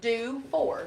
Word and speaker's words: Dufour: And it is pronounced do 4. Do just 4. like that. Do 4. I love that name. Is it French? Dufour.